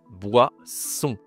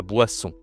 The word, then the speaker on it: boisson: Wa. En français, ça se dit WA. Wa. J'ai fait aussi une vidéo sur les consonnes. D'accord. Là, c'est plus a. Va voir la vidéo, je te mets le lien en haut à droite de l'écran. Et le on c'est toujours la nasale on, la boisson.